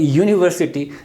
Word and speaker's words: university: determine the beginning sound whenever we say a university the initiate the beginning sound had come out of her mouth that is ye it's a constant sound that is where to say blockage I know the symbol this is the symbol of this the initial sound this is yeah sound our G sound so this is consonant sound there's way we use